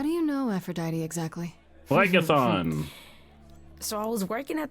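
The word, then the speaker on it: Phlegethon: Phlegmethon. Oh, I'm not pronouncing that one correctly. How do you know Aphrodite exactly? Phlegathon.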